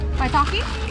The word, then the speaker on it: maitake: (không thể phát âm maitake) (cười) Bạn phát âm từ này như thế nào? Maitake?